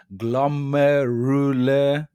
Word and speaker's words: glomerular: That was a correct pronunciation. Glomerular filtration. So, basically what this is talking about is like three parts of the kidney.